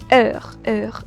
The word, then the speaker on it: heure: So only time, I'll pronounce this particular, yeah, heure, that the way you pronounce it.